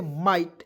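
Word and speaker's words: might: आई जीएसटी है दोस्तों इसका उच्चारण आइट के रूप में करना है देखिए आई देखिए आ इट हो गया तो इसे क्या पढ़ेंगे माइट एम आई जी एस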